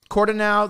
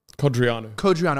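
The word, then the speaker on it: Codreanu: Cordonau, the leader of the Iron Guard, if I pronounced that right, might even be considered for sainthood. What is it? Codriano.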